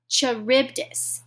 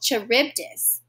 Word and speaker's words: Charybdis: of death or death i'm gonna check my pronunciation god skila or charybdis skilla skila or charybdis death or death